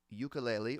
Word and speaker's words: ukulele: Through the Tulips on ukulele so I can definitely help you with the chords of that song I don't have a ukulele or as I'm told it's pronounced ukulele more a more correct pronunciation um I don't have